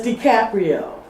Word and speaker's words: DiCaprio: Excuse me, but it's DiCaprio.